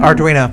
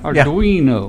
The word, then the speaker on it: Arduino: How do you say it? Arduino? Arduino. Arduino. Yeah. Arduino. Italian.